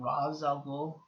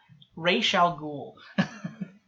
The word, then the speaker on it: Ra's al Ghul: They call him Ra's al Ghul. It's such a small thing. The pronunciations really bugged me.